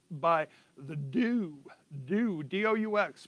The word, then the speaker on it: DOUX: It's by the Doux, D-O-U-X, pronounced Doux. I guess it's a French thing.